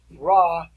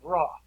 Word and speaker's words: Ra: in the egyptian society is ra or my preference and pronunciation is red ray is the sun god ray is the sun